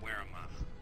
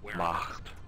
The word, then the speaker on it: Wehrmacht: Motherfucker, it's Wehrmacht. Okay, I said it right. Okay? Wehrmacht.